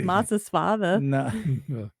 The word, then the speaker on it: massa sovada: wrote it right well I know that's how it's spelled but it's masa's father I thought it was